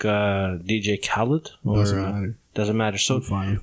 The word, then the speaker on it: Khalid: Hallett or how sorry how do you how do you how do you pronounce it properly my name is Khaled okay I also go by Khalid which one do you